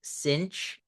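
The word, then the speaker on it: sinh: the hyperbolic sign function it's pronounced cinch of X and it's defined as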